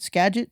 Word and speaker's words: Skagit: I told him I was legit because I knew that Skagit rhymed with legit and I grew up in Squim.